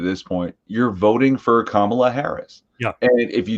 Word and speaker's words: Kamala: point, you're voting for Kamala Harris. Yeah. And if you don't want to be a bigot, you have to remember the word comma, because that's how you pronounce it.